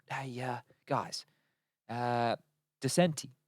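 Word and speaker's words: decenty: t y I said how do we say his name and they were like in English or in Portuguese I said well we're cting in English so like would English and they said just say decent exactly so you could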